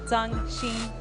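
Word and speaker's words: Zhang Xin: my heritage justice so proper pronunciation zhang sheen i'm pumped for her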